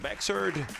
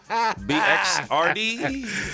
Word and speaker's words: Bxrd: it's not about me baxter is it uh bxrd is it the x is silent yeah the x is silent and that's like that's one thing they call me bird before i started rapping